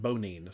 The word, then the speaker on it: Bonine: I believe bonine. I Googled it, and apparently the makers call it bonine, so I'll continue to call it bonine.